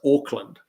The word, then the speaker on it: Auckland: Now, Auckland, for those of you who don't know, that Auckland is spelled AUCK, so it's Auckland. And he thought he was boarding a plane to Oakland, which is OAK.